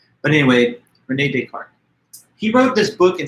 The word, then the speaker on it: René Descartes: Descartes, this is a French name, so there's a little difference from the English style of pronunciation. René Descartes, it's like a French name. But anyway, René Descartes.